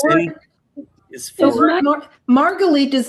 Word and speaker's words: Margalit: But the Gießen word is The for word Margalit is not Margolis. The word Margalit is not, you have Margolis in parentheses. Ashkenazi pronunciation.